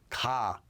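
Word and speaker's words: 가: We get this syllable, ka.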